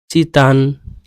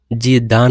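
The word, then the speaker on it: 鸡蛋: ঠিক আছে তো পিংশিয়াং চিতান এই ডি আছে জিদান বলবেন না তান বলবেন ত এর উচ্চারণ হবে ঠিক আছে চিতান চিতান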